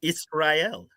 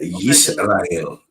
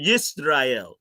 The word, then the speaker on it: Yisrael: But that's perfect, because you did pronounce it Israel. So that's no, perfect. I didn't. I did not. I just said Okay, Yisrael. Yis is not is. Oh, Yisrael.